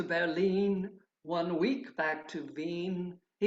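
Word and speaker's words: Wien: cities berlin and vienna are in german pronunciation berlin and veen and czech means the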